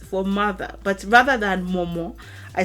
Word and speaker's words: màmá: to see what happened how uh pronunciation of momo became Mama because Momo is actually the correct pronunciation and I know that